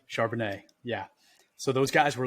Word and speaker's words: Charbonnet: how do you say Zach's name from UCLA Chardonnay charbonnet yeah so those guys were a little disappointing